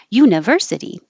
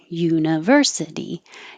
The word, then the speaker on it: university: can't be too jumpy university so it's you not higher you but university university university and it has to be long enough that you can hear the